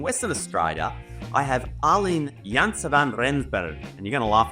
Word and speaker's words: Janse van Rensburg: The Afrikaans pronunciation would be Janse van Rensburg, but I think you were pretty much there.